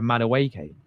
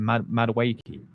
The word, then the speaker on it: Madueke: Am I pronouncing his name wrong? Is that you say it? Madueke, not Madueke. My bad, people.